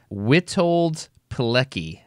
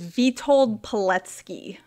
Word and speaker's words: Witold Pilecki: But if I understand correctly, the guy's name that I've asked you to research is Witold Pilecki.